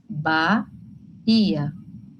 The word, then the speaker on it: Bahia: Mas a gente fala esse H? Não. Bahia. Esquece o H.